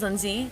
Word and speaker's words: Lindsie: Okay, so my name is Lindsie. You know that already. Like Lindsie Lohan, but not like Lindsie Lohan. Just if that helps with pronunciation.